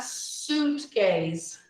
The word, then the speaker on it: suitcase: A pronúncia aqui, a gente não fala a letra I. Ela é silenciosa. Então fica pack a suitcase. Não falo isso.